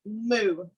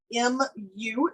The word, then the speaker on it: mu: This is the Greek letter mu. M-U is the spelling of it. It's pronounced like what a cow says, mu.